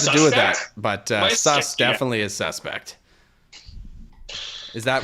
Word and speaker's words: Sass: What does Sass mean? Am I pronouncing that correctly? No, it's pronounced sus. Basically, my nickname in Estonian is sus.